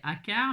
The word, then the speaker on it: Achard: pas d'enfant c'est de Marcel Achard ou har ça ça ça peut se prononcer Akar mais Akar c'est mon papa et ça s'écrit pas du tout comme ça voilà on dit qu'il